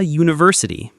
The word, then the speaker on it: university: For example, a book, a university, it starts with a y sound, a cat.